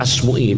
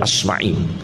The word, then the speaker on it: Asma'i: Yahya bin Maid seperti Asmui itu. Jangan sekali-kali baca Asmui tidak benar bacanya yang benar Asma'i. Tidak ada dalam sejarah namanya Imam Asmu. Itu gak ada Asma'i.